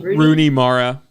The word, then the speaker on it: Rooney Mara: And then is it Runa? How do you say her name? Rooney Mara.